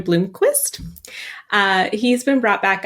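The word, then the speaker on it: Blomqvist: they're bringing up Joel I'm saying it wrong sorry it is uh a European pronunciation Bloomquist uh he's been brought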